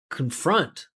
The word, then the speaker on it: confront: Because that confront should be a salabic consonant. It's an unstressed syllable that finishes with N. It was one of our first lessons. And you never pronounce the vowel there. You're just going to go con confront.